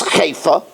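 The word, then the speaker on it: חיפה: Chifa, the hide known as chayfa, the Art Scroll pronunciation, I just checked it, is chayfa.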